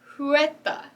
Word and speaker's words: Huerta: this week is dolores juetta that's right it's a little bit hard to pronounce uh it's because it is a spanish last name and dolores is